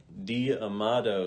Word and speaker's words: D'Amato: UX designer D Amado. Is that pronounced correctly?